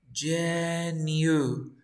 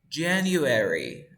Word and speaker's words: January: Enero, decimos Jenny, así como Jenny, Jenny, January, okay? January. This is the correct pronunciation.